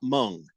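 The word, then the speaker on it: Hmong: No, I'm not Mung, which is spelled H M O N G.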